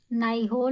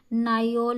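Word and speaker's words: Nyholm: इसको आप देखिए स्पेलिंग नाइहोल में या फिर नाइयोल में बोल भी सकते हैं इसको।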